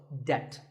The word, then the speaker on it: debt: find yourself in debt the B is silent in this word so debt if a debt is